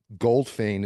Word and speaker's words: Goldfajn: And Goldfein is spelled Goldfajn.